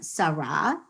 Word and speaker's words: Sarah: name sarah comes from sarah and it's s a r a h right in hebrew it's a hay at the end and it's silent right or this delicious